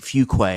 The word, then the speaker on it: Fuqua: This comes after they hired Mike Hartline and Nate Fuqua, I believe is how you pronounce his last name. Correct.